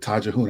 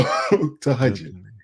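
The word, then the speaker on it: تهجد: I called it tajahun. I didn't know how to pronounce it. So tahajjud.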